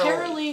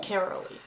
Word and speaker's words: Caralee: I figured out her name name is Carol carolly comes home carolly after almost 4 months away in carolly comes home after almost months Jess had to bring carolly home after insurance out the cou their daughter